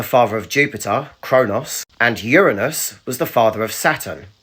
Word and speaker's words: Uranus: I put it down to American children, but it is pronounced Uranus, named after the Greek god of the sky.